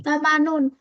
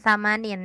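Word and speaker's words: ثمانون: Harusnya sama nun, bukan samanin ya.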